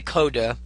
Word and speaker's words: Codecademy: We say Coda, it's just the way we pronounce it, but the A in the word Academy is omitted.